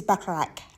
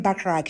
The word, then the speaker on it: Bacharach: This is Bacharach. At least I think that's how it's pronounced.